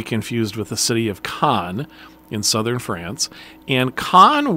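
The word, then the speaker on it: Caen: will also visit the city of Khan which is spelled c-a-e-n not to be confused with the city of Khan in southern France and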